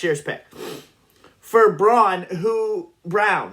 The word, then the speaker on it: Braun: pick for Braun who brown right Brown he pronounces it brown the little white kid